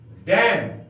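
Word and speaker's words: damn: डी ए एम एन डम इसमें N silent है डी ए एम एन इसमें एन साइलेंट है इसका अर्थ होता है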